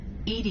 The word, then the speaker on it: EDI: the medical Bay why are you named Ed Ed is the phonetic pronunciation of Eed that is an acronym for